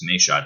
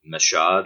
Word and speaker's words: Mayshot: Would you say Mashad or Mashud or something? I was like, and that's not how you say it. I'm like, it's Mayshot. And he's like, look, you